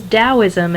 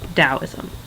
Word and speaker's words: Daoism: get confused it is dosm and even if you see it with a t you'll still see it um you'll still pronounce it as though it's a d dosm all right this is